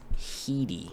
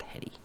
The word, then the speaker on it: Headey: And I think her last name is actually pronounced Heedy, not Hetty.